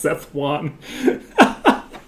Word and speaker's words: Sichuan: It's really pronounced Seth Juan.